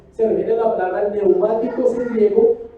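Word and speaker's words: πνευματικός: Se lee neumáticos, pero le pone como se escribe psicología, con la P primero. Y usa la K, neumáticos.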